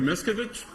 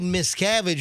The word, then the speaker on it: Miscavige: safe return of Shelley miskovich oh good for him oh that's all his jokes are like well miss miss cavity he mispronounced the name but David miscavige is like the the